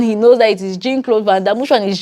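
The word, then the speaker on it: Jean-Claude Van Damme: don't blame you guys because J is like a French way of calling it but Jin it just sounded so off in my ears like Jin cloth vam and then when Lawrence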